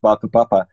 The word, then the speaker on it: whakapapa: this concept called whakapapa, spelt with a WH at the beginning, even though pronounced whakapapa.